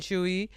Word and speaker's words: Tzuyu: Put the comments down below what you guys think of Corbin and Chewy uh from Twice. It's pronounced Chewy.